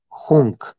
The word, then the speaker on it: Hung: Vamos a jugar con un mantra que se le conoce como las sílabas guerreras. El mantra dice así: A, Om, Hung, J-U-N-G, Hung, J-U-N-G, A, Om, Hung.